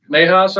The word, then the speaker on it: Nahas: The first person is uh Nahas, I believe. Did I pronounce that right? Uh my name is Nihas.